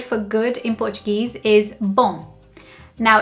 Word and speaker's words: bom: It's a tiny, tiny little difference in the way that you end the pronunciation of the letter M, but it makes a big difference.